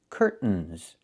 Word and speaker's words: curtains: This word has two pronunciations. I can say curtains or curtains, but don't say curtains. It's curtains with a real T, curtains. Or I can use a stop T and say curt, stop the air, put the tongue up, curtains, and go directly to the N, curtains. So curtains or curtains. Both pronunciations are correct.